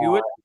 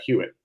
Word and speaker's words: Hewitt: everybody knows as a fan of the Glorious Sons, the tragedy struck the bass player, Chris how do you say his last, Howitt or Uh, Hewitt? yeah, Hewitt. Yeah.